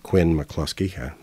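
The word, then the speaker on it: Quine–McCluskey: we'll talk about the Quin mclusky algorithm some people pronounce it Quinn mclusky I mostly hear Quin mclusky uh and another add-on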